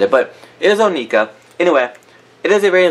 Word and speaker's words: Onika: To kind of sum it up, Nicki Minaj's Onika, there's so many ways to say her name, and I know that it's Onika, but it does not roll off the tongue